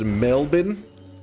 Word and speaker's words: Melbourne: It's pronounced Melbourne.